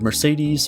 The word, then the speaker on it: Mercedes: Also, all the E's in the word Mercedes are pronounced differently.